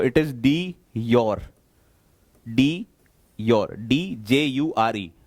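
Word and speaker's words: de jure: बोलेंगे तो इट इज डी your, DJURE। Pronunciation में योर आता है, बट उसका स्पेलिंग की अगर बात करेंगे तो JURE होता है, डी योर हेड, यानी कि नॉमिनल सिर्फ नाम का हेड है।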